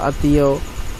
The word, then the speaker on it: আত্মীয়: খ পদের মধ্যে বা শেষে ম ফলাযুক্ত হলে উচ্চারণে সে বর্ণের দ্বিত হয় এবং সামান্য নাসিক্য স্বর হয়, যেমন আত্মীয়, আতীয়, আতিথিয়, পদ্ম, পদেদ, পদেদা।